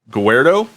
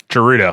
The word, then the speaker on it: Gerudo: Um, Ganondorf is always depicted as the leader of the Gordo. Um, Gerudo and Gerudo.